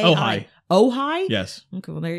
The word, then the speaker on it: Ojai: Is that close to, how do you pronounce, O-J-A-I? Ojai.